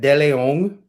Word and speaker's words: DeLeon: So I kept the Spanish pronunciation after getting scolded by this Hispanic cardiologist.